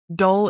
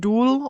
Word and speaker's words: dull: Dull, this is also a good word that dull is like a synonym for boring. Dull or boring. Dull. And the pronunciation is kind of weird. It's not dual or doll, it's dull. Dull. Dull. Similar to seagull.